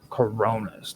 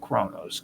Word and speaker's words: Coronis: Coronis, not Kronos, Coronis.